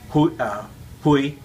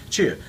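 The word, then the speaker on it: 去: Now, depending on your dialect, you pronounce lai, chu, or in my dialect, my home dialect is Cantonese. It's loi, hui. So it sounds very different. So in the Mandarin dialect, this is pronounced lai, chu.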